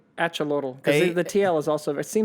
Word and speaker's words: Axolotl: This is the Axolotl. Axolotl. Usually, I mean, like I can in Latin America. in Aztec society, the X is a ch. Yeah. Right? So it's AX. I would say axolotl because the TL is also.